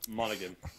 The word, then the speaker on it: Monaghan: It's not Cameron Hannigan. It's Cameron Monaghan. Monaghan. That sounds better. That sounds right. Monaghan. Right, it's like Monaghan. It's weird how they pronounce that last name.